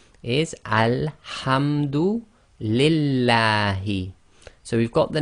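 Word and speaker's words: لله: Pronounce it with a la as in the name, as in the word lam in English. So again, Bismillahi, Alhamdu Lillahi.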